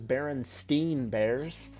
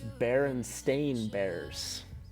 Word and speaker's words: Berenstain: very surprising to me I always thought it was Berenstein bears but it's berenstain bears so it's just uh one of those crazy things you don't really realize how it's spelled except nine of you I guess really knew the correct berenstain bears pan there's the Greek